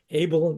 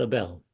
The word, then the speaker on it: Abel: It's Abel, not Abel.